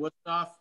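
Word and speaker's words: Wüsthof: There's an F at the end, Wusthof.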